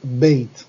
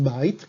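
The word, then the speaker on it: בית: Aquí es bait cuando va sola, cuando va acompañada se convierte en beit.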